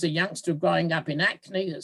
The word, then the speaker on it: Hackney: youngster growing up in acne that spelt sharon hackney the h is silent so you knew as